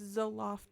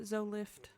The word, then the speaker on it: Zoloft: It's Zoloft, not Zolift.